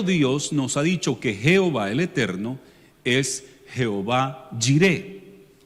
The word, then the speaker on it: Jehová: Nosotros, como nuestro idioma debe llevar vocales, no solamente consonantes, entonces se le tradujo como Jehová, y en inglés Jehová, Jehová, que se escribe igualito, Jehová o Jehová en español.